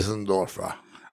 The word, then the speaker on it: Preisendorfer: Today, we are back with Rusty Preisendorfer. Is that the right way to say it? That's the right way to say it. You have a little accent on there. I love it. Preisendorfer.